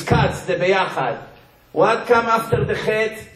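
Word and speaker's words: ביחד: Beyachad.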